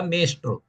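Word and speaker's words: ಮೇಸ್ಟ್ರು: Mestru means master. That English word here, no, is pronounced like a Mestru.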